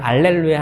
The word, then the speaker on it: 할렐루야: 할렐루야를 하는데 이번에는 할렐루야 하는데이 루자가 포인트. 루 루 입술이 어때요? 뽀뽀 해야 돼. 뽀뽀. 뽀뽀 해 봤어요? 네. 잘했어요. 뽀뽀할 때 입술. 자, 루이 발음을 만들어야 됩니다.